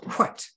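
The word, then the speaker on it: Hwæt: ae ligature and t you can see it's pronounced white as the character that resembles a p is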